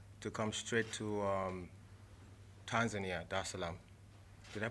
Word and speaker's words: Dar es Salaam: of the 7th, to come straight to Tanzania, Dar es Salaam. Did I pronounce that right? Yeah, Dar es Salaam.